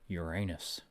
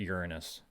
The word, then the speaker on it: Uranus: belt carry occupy Venus I rather occupy Uranus I'm sorry Uranus the politically correct way to say the name hello sorry I'm late